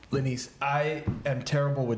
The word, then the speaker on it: Lenise: Hey, my name is Lenise. Lenise, I am terrible with names, so I'm always afraid I'm going to butcher the person's name, but Lenise was so gracious to say it's Denise with an L.